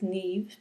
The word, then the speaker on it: Niamh: you who don't know me my name is neve it's pronounced nev and it is spelled niamh it's